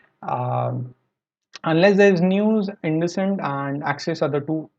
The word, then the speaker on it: IndusInd: IndusLight is a IndusInd, sorry, I pronounce it by mistake every time.